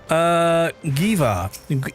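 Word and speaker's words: Geva: Apparently, Giva is a soft G. Rhymes with like a Neva.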